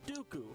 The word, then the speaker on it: Dooku: While Lee was portrayed in a number of memorable roles, such as Saruman the White, and the rhymes with Poo-Poo, Count Dooku, from the worst Star Wars movie.